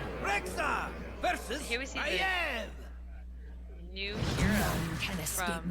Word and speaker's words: Maiev: I always thought it was Maeve. It's apparently Maiev.